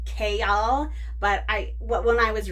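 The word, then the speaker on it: Chaol: says in the book that his name is pronounced k y'all but I when I was reading it in my head I pronounced it chal chol which is totally different from KL but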